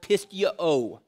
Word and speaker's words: pisteuo: Greek word for believe is the word pisteuo, is how it's actually pronounced.